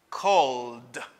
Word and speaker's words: called: I got l sound, mon voice l aide automatiquement pour le prononcer comme d cold.